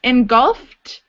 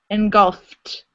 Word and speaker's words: engulfed: Engulfed, because the F is an unvoiced sound, you pronounce it like a T. Engulfed. Engulfed.